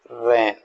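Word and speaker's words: wren: this is the word तो यहां डब्लू को हमने साइलेंट रखा हुआ है तो इसको बोलेंगे रन एस डब्लू लेटर्स ये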